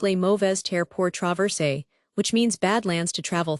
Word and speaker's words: Les Mauvaises Terres pour Traverser: French fur trappers later echoed that feeling, dubbing it Les Mauvaises Terres pour Traverser, pronounced Les Mauvaises Terres pour Traverser, which means Badlands to travel through.